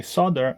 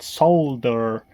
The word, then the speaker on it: solder: Also, for anybody who complains that I say solder and not solder, uh, check it out. That's how you say it in this country.